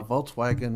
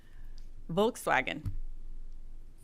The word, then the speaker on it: Volkswagen: other than her german the w is pronounced as a v my german assistant so then a volkswagen would be a volkswagen volts wagon volkswagen all right uh you